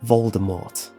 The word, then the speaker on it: Voldemort: of death V deore when saying this the t is silent and it has been